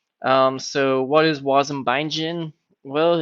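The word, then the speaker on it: wasm-bindgen: this awesome tool called Waze and buying gin which I know it's spelled differently but always really makes me want a glass a gin so what is woz and bindin well it's sort of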